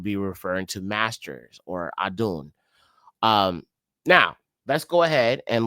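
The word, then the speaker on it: אדון: In the Obari, it's pronounced Adun, Adunim.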